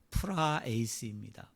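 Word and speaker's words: πραεῖς: 또는 온유한 자라는 말은 헬라어로 프라에이스입니다 프라이스 마치 영어 단어 같잖아요 영어 발음 같죠 프라이스인데이 프라 에이스라는 말은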